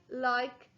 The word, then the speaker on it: like: The magic E is silent and it's turning my short I into the long I sound. L-I-K. I like food.